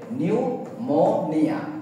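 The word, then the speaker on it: pneumonia: ভুল ফিনমনিয়া তারানে নিউমোনিয়াটাকে আমরা পি প্রথমে থাকে নিউমোনিয়া তোমরা এভাবে উচ্চারণ করবা নিউমোনিয়া নিউমোনিয়া ঠিক আছে বিষয় নিউমোনিয়াটা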